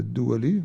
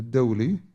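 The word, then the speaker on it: دولي: People pronounce it as a Duwali, but it's a Dawli.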